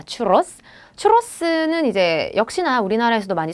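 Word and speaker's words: churros: 계시죠 그다음은네 추러스 추러스 원래 츄러스가 아니라 스페인식 발음은 추 스입니다 추로스 츄로스는 이제 역시나 우리나라에서도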